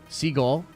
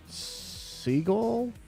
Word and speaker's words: Segel: Segal, Jason Segal. Wait, what? It's not? That's not how you pronounce it?